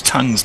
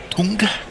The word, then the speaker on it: Tongue: How is how is tongue's name pronounced? Is it tongue or is it tong? Tonga. I think it's just like an English tongue, isn't it?